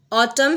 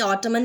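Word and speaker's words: autumn: ऑटम है, एन नहीं, ऑटमन नहीं है, एन साइलेंट है।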